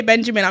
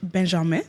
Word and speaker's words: Benjamin: I'm saying it that way because I would obviously say Benjamin. from the UK, but he is from Belgium and that is how you say his name in French, Benjamin.